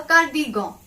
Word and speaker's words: cardigan: Cardigan is a cardigan. Again, it's easy. Only pronunciation is different. It's gon. It's cardigan. Repeat after me.